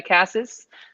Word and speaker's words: Casas: old but those two I thought shank um Casas is that how I say it how do you say it yeah Cassis okay um I actually thought I was a